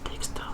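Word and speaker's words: Dextre: It is frequently mated to Dexter, or Dexter, if you pronounce it in the French way, which is short for Special Purpose Dexterous Manipulator.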